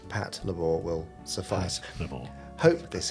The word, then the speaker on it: Patlabor: Second, Jamie's pronunciation of Patlabor I remember it well.